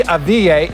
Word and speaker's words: Avdija: First up, the Warriors worked out Deni Avdija in Atlanta, and according to the Athletic's Ethan Strauss, they were blown away by him.